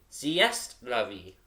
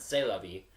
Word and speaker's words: c'est la vie: It's actually c'est la vie, not c'est la vie.